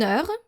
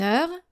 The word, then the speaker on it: heure: So for silent H, here's a short list. Une heure, an hour, une heure.